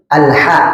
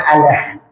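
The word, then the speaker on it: الْحَمْدُ: Bisa jadi alha ya. Alha jangan alah ya.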